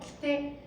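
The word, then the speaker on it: 来て: 키테. 자, 이거 발음 조심해야 되는데 키테가 아니라 키테라고 해서 조금 더 여기를 힘을 주면 으떼로 들릴 수 있기 때문에 이거는 힘을 주시면 안 돼요. 그냥 키테 와서 오고.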